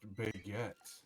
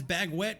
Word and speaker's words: baguette: It's pronounced baguette. It's baguette. Baguette. What? Just Wait, what? like it's pronounced a dinosaur. It's dinosaur, you moron. I got one that says bag wet, one that says dinosaur.